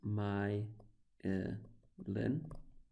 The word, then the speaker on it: myelin: this little myelin sheath so that is pronounced my Linh so myelin sheath I never act as